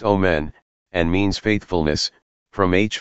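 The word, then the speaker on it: אֹמֶן: truth is on at pronounced o men and means faithfulness from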